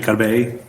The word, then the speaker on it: Corbeil: do you go by the French pronunciation of your last name?